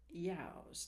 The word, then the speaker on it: ewes: And the Cowdennows, Cowdenknowes, and Cowdennows, which is some part of Scotland, rhymes with yows, E-W-E-S, which in Scottish is pronounced yows.